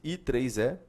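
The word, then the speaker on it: IEEE: pelo i e e mais um e né pronuncia-se I3 e 13 904 certo e aí você pode n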